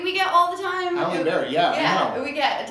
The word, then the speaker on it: Halliday+Baillie: Halliday+Baillie. That is the correct pronunciation. It is, you're right. Halliday+Baillie.